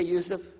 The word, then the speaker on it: Yusuf: My name is Yusuf. Can you say Yusuf?